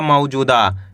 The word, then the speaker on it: मौजूदा: म में ऊ की मात्रा मौ। ज में बड़े ऊ की मात्रा जु। द में आ की मात्रा है द। तो मिलके बन जाएगा मौजूदा। कैसे पढ़ेंगे? मौजूदा।